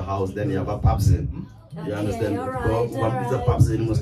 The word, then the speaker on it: Pepsin: So it's Pep. It's written Pepsin. Yeah. But it's called, it's pronounced Pepsin.